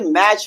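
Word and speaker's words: match: तो हम यहां पर टी को प्रोनाउंसिएट नहीं करेंगे। हम क्या पढ़ेंगे भैया? हम क्या पढ़ेंगे? मैच पढ़ेंगे ना कि मैच पढ़ेंगे।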